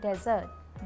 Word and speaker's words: desert: But actually में English में 2 word हैं, डिज़र्ट एंड डेजर्ट। डिज़र्ट होता है स्वीट डिश और डेजर्ट होता है रेगिस्तान। Pronunciation डिज़र्ट, डिज़र्ट, डेजर्ट, डेजर्ट।